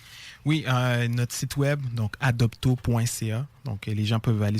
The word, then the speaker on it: Adopto: Donc adopto.ca. Adopto comme ça se prononce.